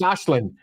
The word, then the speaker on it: Aislinn: It's an Irish name and it's pronounced Aislinn.